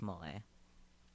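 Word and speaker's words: moe: Pronounced mole.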